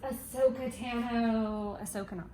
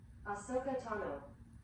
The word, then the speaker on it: Ahsoka Tano: I think it's Tales of a Jedi that I'm thinking of, but it is related to my bound for today, which is Ahsoka Tano.